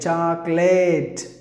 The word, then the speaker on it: chocolate: There is a letter E. This letter E is silent. I told you why this letter E is silent. And the remaining, you have to pronounce this not late. We usually pronounce the word as late. Chocolate. Chocolate with a long sound and the A. Please don't do that. So it is lut. Short sound. Chocolate. Chocolate.